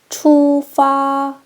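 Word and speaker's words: 出发: 역시 일성일성입니다. 처음과 끝이 똑같이 흘러가게 해 주세요. 투파.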